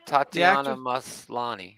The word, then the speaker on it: Tatiana: had a great time dude is her name pronounced tatiana uh yeah tatiana yeah she's an orphan black dave okay yeah